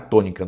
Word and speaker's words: tônica: O que que é a tônica na na língua portuguesa? É a sílaba que tem mais força, né? Tônica. A palavra tônica, por exemplo, qual que tem mais força? O tô, né? Tônica.